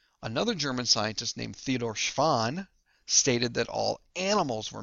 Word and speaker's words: Schwann: between these two guys schwann sounds like the word swan and remember swans are animals show schwann animals they're